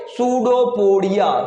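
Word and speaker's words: pseudopodia: सूडोपोडिया, सूडोपोडिया। P silent होता है, पी क्या होता है? साइलेंट।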